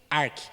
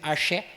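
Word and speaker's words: ἀρχή: Do grego, arque. Pronuncia-se arque. Apesar de estar escrito arché, mas é arque.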